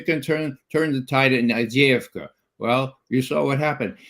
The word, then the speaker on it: Avdiivka: Isn't this, correct my pronunciation on it, the city, Avdiivka? Avdiivka. Yeah, well, it depends if it's Ukrainian and Russian. Avdiivka, you're right.